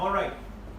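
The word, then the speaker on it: all right: भी पूछ सकते हैं ऑलराइट, इसको एल को साइलेंट कर देते हैं, ओ राइट, ऑलराइट, ऑलराइट, ऑलराइट, बोलो ऑलराइट, ये भी आप यूज कर सकते हैं।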